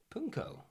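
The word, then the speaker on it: pwnco: or more traditionally indulge in a ritual called punco. Punko. Punko is an exchange of rude rhymes with the person who lives there.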